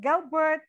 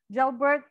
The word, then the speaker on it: Gelbert: So we have Gelbert on the hot seat this afternoon